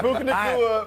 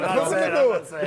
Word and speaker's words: Puka Nacua: How do you pronounce it again? Puka Nacua. I ain't saying it. I'll get myself in trouble. Puka Nacua. Puka. What? It's Puka Nacua. Don't say it. Puka Nacua.